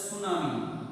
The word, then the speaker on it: tsunami: इसके अंदर T word silent है, टी वर्ड साइलेंट वर्ड है, ये टी इज साइलेंट वर्ड, इसलिए इसको उच्चारण में नहीं लाया गया है, इसलिए सुनामी ये उच्चारण में आ रहा है सुनामी।